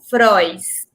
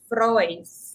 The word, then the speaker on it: Frois: it wrong ah natalia frois natalia natalia frois yes oh i people think i'm french and then they say my last name fra i said no it's froys royce have to wrote the